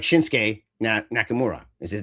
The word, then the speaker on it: Shinsuke: You don't always pronounce the U properly. So Asuka is like Shin, it's not Shinsuke, it's just Shinsuke.